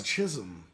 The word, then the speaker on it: Chisholm: Well, so many people mess his name up. They play it all the time on New York radio. They call him Jism, And they don't call they?